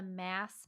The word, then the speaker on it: MASS: So I developed something called the MASS method for early stage startups. MASS stands for Marketing as a System and rhymes with SaaS, and I'm rolling with it.